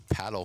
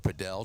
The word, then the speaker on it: padel: They also have paddle courts or padell depending on what part of the world you are and how you want to pronounce it.